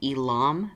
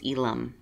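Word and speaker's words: Ealom: name and I know a lot of people will pronounce it Elam because of the L M but Cherokee it's Elum so and that's actually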